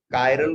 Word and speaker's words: chiral: कायरल बोलते हैं, किरल भी बोलते हैं इसको, अलग अलग लोग किरल नहीं बोलते हैं, किरल बोलते हैं या कायरल बोलते हैं।